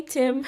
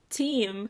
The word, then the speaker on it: team: I was like Hey Tim so instead of saying team I said hey Tim can I get a Tim lift so instead of saying team lift for someone to come